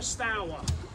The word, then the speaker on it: Stour: Stour is an Anglo-Saxon word. Would have been pronounced stour back in the day, and it means fast flowing and aggressive.